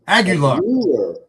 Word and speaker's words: Aguilar: Aguilar, I believe is what it is. Did I say it right? You were very close. Oh. Say it with, and don't pretend there's not an I there. Aguilar? Aguilar.